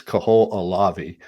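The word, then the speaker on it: Kahoʻolawe: okay let's a few in hawaiian we pronounce every single syllable so it's kaho alavi it's lanai it's kawaii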